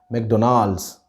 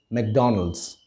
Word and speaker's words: McDonald's: it is mcdonald's many of us might wrongly pronounce it as mcdonald's the right way to pronounce this word is mcdonald's and if you want to sound more american